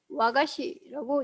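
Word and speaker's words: 和菓子: 화과자가 뭔지 알고 보니까 이 화과자라는 거를 일본어로 읽으면 와가시라고 얘기를 합니다.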